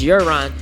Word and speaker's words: Jaron: So Jaron means cry of rejoicing, and the Hebrew is the Hebrew variant, and it's spelled Y-A-R-O-N, and it's Jaron. So that means that again means cry of rejoice, shout of rejoice.